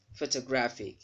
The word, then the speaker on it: photographic: genetic not genetic all right strategic dramatic gigantic photographic hear the syllable having letters pho is stressed second really